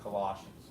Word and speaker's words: Colossians: They were from ancient Colossae, but it's pronounced Colossians.